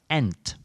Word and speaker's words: ain't: know that there is a dialect pronunciation of ain't ain't meaning is not ain't is sometimes pronounced ant especially in this area